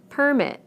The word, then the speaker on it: permit: Permit, permit. Again, we stress the first syllable in the nouns and the second syllable in the verbs.